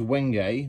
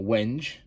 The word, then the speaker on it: wenge: I've got a nice piece of tight-grained wenge, or wenge. Don't know how you want to pronounce it. Personally, I prefer wenge, but I'm told wenge is the correct way of saying it.